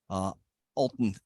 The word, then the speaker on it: Alton: But I think that everybody should give our panelists, Jessica Travis, Alton, I'm going to get his name right here. Alton is his preferred pronunciation.